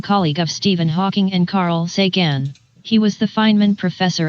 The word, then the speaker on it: Carl Sagan: Yes, the pronunciation of the name is Carl Sagan.